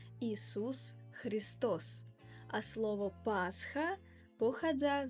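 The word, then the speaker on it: Иисус Христос: Inak v ruščine sa meno Ježiša Krista vyslovuje Isus Christos.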